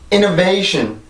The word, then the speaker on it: innovation: innovation, innovation, innovation. 한 번 더. innovation, innovation, innovation. 네, 그래서 이 단어는 그렇게 발음을 해요.